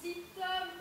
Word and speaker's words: Zitoum: Parce que Zitoum, en fait, se prononce Zitom pour rimer avec homme.